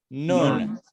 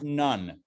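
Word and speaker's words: נון: Next letter is the letter Nun. This is pronounced Nun, not none, right? None is something else. This is not none, it is Nun. That's how we pronounce it, Nun. Not noon, like N-O-O-N, that's something else, or N-U-N-E.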